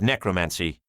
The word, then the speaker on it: gnecromancy: "Well, technically a scroll of necromancy," says Gorfissle. "With a silent G, as in gnome."